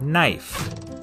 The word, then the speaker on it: knife: is in the word knife in Middle English it was pronounced knife but after The Vowel Shift the K became silent and the E turned